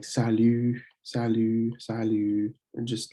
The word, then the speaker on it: salut: Some more familiar introductions would be salut. You don't pronounce the T.